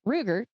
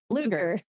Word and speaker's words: Ruger: Do your research and learn how to pronounce the brands of guns, please. It is a Ruger, fellow podcasters. Yes, it is a Ruger 22 caliber pistol, not a Luger.